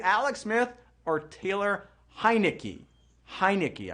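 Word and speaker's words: Heinicke: smith or taylor highnicky hi nicky i know you got to think heineken and just go heineky to say his name right q3 what is the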